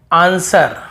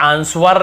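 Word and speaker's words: answer: जैसे आंसर, हमें आंसवर नहीं पढ़ते, वर नहीं पढ़ते, आंसर, बस आंसर, जवाब।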